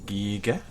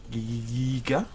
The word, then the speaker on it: Giga: So, a pair of big old Gigas sounds like a plan. Let's do that. Giga. Giga. Giga. It's weird that the full word is Giganotosaurus, right? It's a soft G. It's a J.